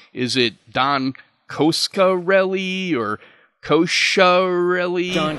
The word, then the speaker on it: Coscarelli: mysterious I never even knew if I was pronouncing his name right is it Don koskarelli or kosher really John cascarelli cascarelli got it I knew reggie'd be a great